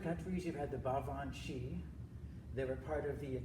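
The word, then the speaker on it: sìth: series yeah Bob when she I can't even spell it without looking it up the last part of it is spelled s ith you which is pronounced she yeah they're definitely related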